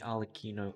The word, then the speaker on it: Arlecchino: Mummy Arlecchino ordered me. You said it correct. That's actually despicable. That is the correct pronunciation.